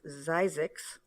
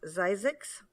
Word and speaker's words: Zzyzx: Desert Studies Center in, and I'll spell it first, ZZYZX, which is a community in the Mojave National Desert. I believe it's pronounced Zizix.